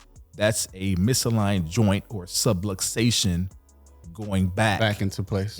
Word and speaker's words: subluxation: it means all right so the word is subluxation subluxation subluxation everybody's like supplication subway station but subluxation is a fancy term for